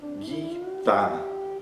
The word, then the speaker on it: Gita: Na palavra, por exemplo, Gita. Gita, que significa canção. Então, nesse exemplo, nós temos na transliteração a letra G, depois o I longo, e a gente não pronuncia Gi. Esse som Gi nem existe dentro do sânscrito.